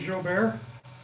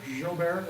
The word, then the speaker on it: Jobert: If anybody's wondering who the heck Joey is Jobert, is how we pronounce it. Jobert, it is French.